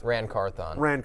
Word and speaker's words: Carthon: How do I pronounce it? Rand Carthon. Rand Carthon.